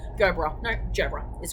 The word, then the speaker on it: Gerbera: Gerbera, yeah, that's soft G. Gerbera.